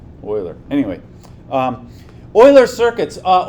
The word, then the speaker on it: Euler: is Greek pronounced Euclid Euler is German pronounced Euler anyway um Euler circuits